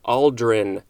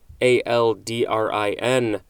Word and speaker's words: aldrin: moving on next is aldrin a-l-d-r-i-n and if i remember correctly this is the same uh spelling and pronunciation of buzz aldrin who went to the moon this is a noun